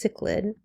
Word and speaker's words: cichlid: through are the speciation that happen in the cichlid fish this word is pronounced cichlid in Lake Victoria and Lake Victoria is found